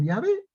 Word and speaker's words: Yahvé: O sea, que esta cosa que está aquí se puede pronunciar como Yahvé o como Jehová.